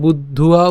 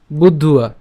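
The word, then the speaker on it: বুদ্ধ্যা: এবং বুদ্ধে পরং বুদ্ধুয়া, এখানে একটা ব আছে যেটা হচ্ছে অন্তস্থ ব। সো আমরা বুদ্ধুয়া উচ্চারণ করছি কেন? এই যে উয়া বুদ্ধুয়া, ঠিক আছে, একসাথে উচ্চারণ করে বুদ্ধুয়া সংস্তভ্যাৎ।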